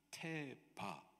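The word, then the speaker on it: תֵּבָה: 있어요 여기 갈대 상자이 상자에 해당하는 히브리 단어의 발음이 테바 아입니다 테바이 단어가 창세기 6장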